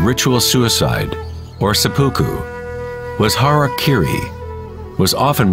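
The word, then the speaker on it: hara-kiri: one form of ritual suicide or seppuku was hara kiri was often mispronounced as harry kerry it means to impale one's horror thereby cutting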